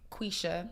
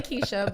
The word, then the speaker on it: Quisha: It's Quisha. Quisha. It's really Keisha, but it's spelled like Quisha with a Q.